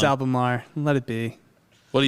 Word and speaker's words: Albemarle: You said it right. Leave him alone. It's Albemarle.